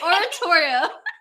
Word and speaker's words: oratorio: You're not saying it right. Oratorio.